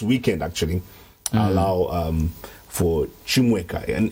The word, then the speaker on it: Chimweka: Chimweka in this case, from the Eastern pronunciation of my name. So my name has different pronunciations. The rightful one is Chimweka, but I think people have had their own ways of pronouncing it.